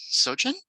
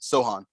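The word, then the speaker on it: Sochan: mean i guess jeremy sochin jimmy sohan i actually wrote he was the one guy who i wrote his like pronunciation sohan sohan okay yeah out of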